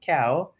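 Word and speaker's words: cão: dog is actually cow it's pronounced cow so I'm like oh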